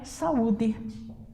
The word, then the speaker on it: saúde: A próxima palavra é saúde. Sa-u-de. Olha o que eu faço. O A ficou numa sílaba e o U ficou na outra.